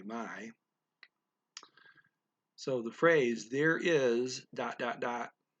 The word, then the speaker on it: may: There is my, M-A-Y, my.